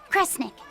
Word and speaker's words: Kresnik: The other word attached to it is pronounced kre. Which of those first two readings feels right to you? Sound it out. Kre, Snira, Kre, Snick. Kresnik. Kresnik feels right somehow.